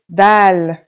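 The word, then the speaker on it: دال: Our first letter is dal. It's just like the English D.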